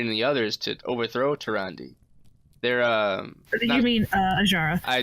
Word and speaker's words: Tyrande: Is how you pronounce her name. So Tyrande.